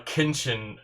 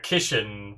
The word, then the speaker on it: Kishin: As a result, a Kinshin, or a Kishin was born. I've been saying it wrong, I think.